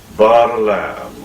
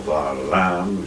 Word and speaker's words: Balaam: from a learned Greek, Balaam, or Varlam. You can either begin the name with a B, or you can pronounce it as V.